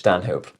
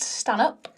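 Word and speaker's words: Stanhope: You think they're going to ask me any questions or So, you're George Stanh Hope? I'd ask me. Yes, I am. But it is pronounced standup.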